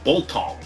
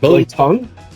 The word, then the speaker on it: biltong: buying a meat called boltong the quality cut of meat I mean geez dude bro it's cool say it with you just said it wrong it's blue oh like Billy tongue yeah I like tongue